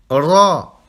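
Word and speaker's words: ر: Ra. Vous roulez le R. Ra.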